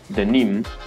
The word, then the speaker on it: de Nîmes: Y justo en ese dato que acabo de mencionar está la clave del nombre, denim, es decir, de Nîmes, que en francés se pronuncia, bien, pues, denim.